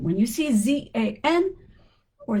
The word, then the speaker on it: Zan: So zan, which is probably pronounced jean, and jean, which is they're almost the same sound. And it depends on the accent or the the regional area. Jean Jean like that. They're all the same.